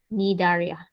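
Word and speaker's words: Cnidaria: go by this name nidaria an example is jellyfish okay the c is silent anybody else i told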